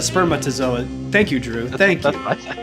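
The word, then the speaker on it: spermatozoa: wrong too I did I said sper zoa instead of spermatazoa thank you drew thank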